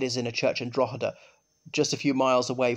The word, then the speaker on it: Drogheda: Oh, he's talking about Drogheda, because it's got a silent G in it.